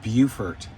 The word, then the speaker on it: Beaufort: Uh it's pronounced Beaufort in South Carolina.